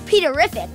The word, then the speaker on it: Peterrific: this is my little brother Peter, also known as Peterrific, which rhymes with terrific.